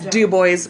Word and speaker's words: Dubois: Anyway, so we're going to talk about good old Dubois. Michael Jackson. And it is called, it's Dubois, by the way, you guys. It's not.